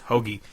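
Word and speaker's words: Hoge: to Back by whatever, however you pronounce his name. It is Hoagie.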